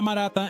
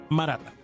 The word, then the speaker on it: Maratha: Se llama Maratha en la lengua local, así que si lo pronunciamos a la francesa, Maratha.